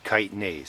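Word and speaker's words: chitin: Worm castings have the enzyme kitise. It's spelled chi t i n.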